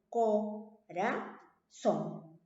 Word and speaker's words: corazón: Entonces, ¿dónde lleva la mayor fuerza de voz? ¿O cuál es la sílaba tónica? En este caso sería son, ¿no? Entonces, hasta ahí estamos bien, ¿no? Entonces, es una palabra aguda. ¿Por qué? Porque lleva la mayor fuerza de voz en la última sílaba.